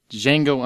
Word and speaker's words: Django: Django Unchained, D is Silent, or The Hobbit.